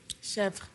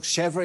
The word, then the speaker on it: chèvre: Chèvre. Is a soft cheese made from goat's milk. Chèvre is right, yes, well done.